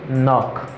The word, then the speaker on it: knock: Here, this letter is silent in this word.